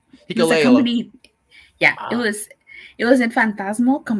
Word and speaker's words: Hikuleo: How do you pronounce it? Hikuleo. Hikuleo.